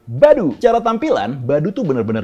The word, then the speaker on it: Badoo: bakal kita bahas adalah Badoo atau dibacanya baru coba tampilan baru itu